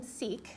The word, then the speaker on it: seq: okay so the function seek so why don't we look that up seq so if you look that that that's sequence that is sequence yes short for sequence because we cannot have